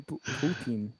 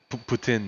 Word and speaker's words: poutine: Oh wait, how the Canadians say it then? Poutine. Poutine? Putin. Like Putin? Poutine.